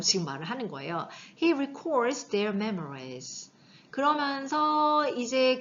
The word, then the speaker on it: record: 동사면 발음을 어떻게 하죠? record. 오의 강세 있어요. record. 만약에 명사면 record 이렇게 발음이 되는 거고 이건 동사예요.